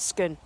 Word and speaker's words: Scone: the National Police Nimitz pelts gone but it's pronounced skin and this was actually it was originally a